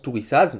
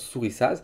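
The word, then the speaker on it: Thurisaz: Donc, moi, je pense tourissage. Normalement, ça se prononce sourissage parce qu'on retrouve le son feu.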